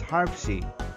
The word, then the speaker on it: HARPC: on the acronym of h-a-r-p-c or pronounced as harpsi h stands for hazard